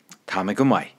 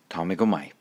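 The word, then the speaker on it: Tá mé go maith: Tamigumai. Tamigumai.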